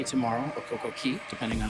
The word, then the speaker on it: Coco Cay: So, we have Coco Cay tomorrow, or Coco Key, depending on how you want to say it. Coco Key is the proper pronunciation, but you will hear Coco Cay a lot, and uh